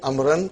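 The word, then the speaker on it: عمرو: Waw is still written. Are you with me? It's not pronounced. It's just to, why it is written? To differentiate between Umar and Amr.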